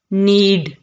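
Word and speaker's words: knead: कहा जाता है नीड नीड यहां पर के जो है यह साइलेंट होगा ठीक है नीड टो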